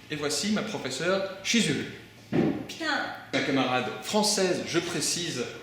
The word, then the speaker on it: putain: Putain! Ma camarade française, je précise, Nina. No, we pronounce putain.